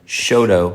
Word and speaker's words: Choteau: The threshing B in Shodo, which spell that for the folks. Yeah. C H O T E A U. Yeah. Shoto, Montana.